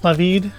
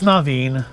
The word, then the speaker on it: Naveen: It's Navid, right? It's not Naveen, it's Navid. It's Naveen. I've been saying it wrong for like the last week.